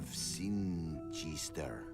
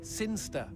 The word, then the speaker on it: Sinchester: But Elliot Thomas was still stuck down on Earth, in the boring town of Sinchester. Sinster. What? It's pronounced Sinster.